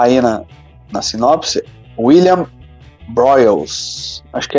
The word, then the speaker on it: Broyles: que deixei escapar aí na na sinopse William broyles aqui é assim que se pronuncia Júnior né também um baita roteirista trabalhou